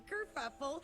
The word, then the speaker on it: Kerfuffle: I'm Kerfuffle, spelled like it sounds with a double for the fuff.